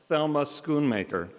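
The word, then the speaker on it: Thelma Schoonmaker: They asked all the nominees how to pronounce my name and I said my name is clearly pronounced Thelma Skoon Maker.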